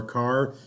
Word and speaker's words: char: as varchar' of our car you'll hear char pronounces car I prefer jar and varchar' all right